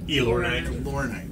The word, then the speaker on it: Elornite: Elornite. Like Illuminate.